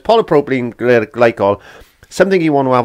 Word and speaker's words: polypropylene glycol: have a look at that and i did mispronounce it it's actually polypropylene glycol there we are polypropylene glycol so if you hear me say anything different i'm lying no so it's polypropylene glycol something you want to have a look at